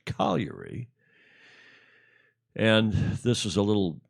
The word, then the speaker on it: Cagliari: It looks like Cagliari, Cagliare, pronounced in Italian, I'm advised. Cagliari.